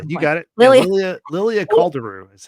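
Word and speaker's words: Lilia Calderu: I'm gonna get her name you got it Lilia Lilia caldero is how you say what what did you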